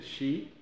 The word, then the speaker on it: Xi: importante y yo quiero personalmente invitar al presidente shi que se escribe xi de China para que asista a